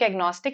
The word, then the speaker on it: agnostic: I know I know see this gno here take agnostic it means to know it is pronounced as no only agnostics I say